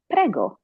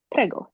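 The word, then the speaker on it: prego: you're welcome which is pgo just like the pasta sauce pgo you're welcome and uh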